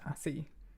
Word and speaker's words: ASCII: I now know that it's pronounced ASCII.